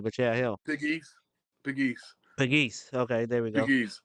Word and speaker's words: Pegues: Jesse loves I was gonna say, I do not know how to pronounce his name, but yeah, him. Pegues.